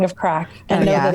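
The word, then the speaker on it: craic: you have to know the proper spelling of crack i know that it's you know it means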